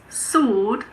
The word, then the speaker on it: sword: Some common ones are answer, sword, and two, the number 2.